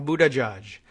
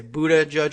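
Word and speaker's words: Buttigieg: so Abu Abu the judge chicken father a Buddha judge and you can see how that would be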